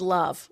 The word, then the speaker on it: LOVB: LOVB, pronounced love with a silent B, has That's not attracted a a number thing.